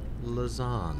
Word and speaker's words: Lauzon: guest today is Tabitha lazon you got it which is lovely I love I love saying your last name now that I know how to pronounce it it does lazan what is it what where is that from French it's French very nice I like